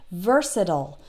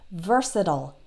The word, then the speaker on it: versatile: RS i TI le so it ends with IL e but American English speakers will tend to pronounce it like I just did versatile that last part sounds like ol versatile but British English speakers might tend to pronounce it like versatile so that last part the IL e they will pronounce like l'll versatile both ways are correct it just depends on